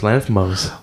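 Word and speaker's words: Lanthimos: Yorgos Lanthamos.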